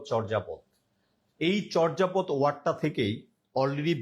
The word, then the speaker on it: চর্যাপদ: চর্যাপদ, চর্যাপদ, চর্যাপদ। এই চর্যাপদ শব্দটার সঠিক উচ্চারণ হচ্ছে চর্যাপদ।